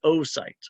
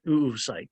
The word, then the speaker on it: oocyte: In the female, the egg is called an oocyte or an oocyte. I've heard it pronounced both ways.